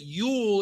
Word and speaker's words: Yule: And if you want to know how to spell it, Yule is spelled Y-U-L-E, and or the Nordic spelling of it is J-O-L.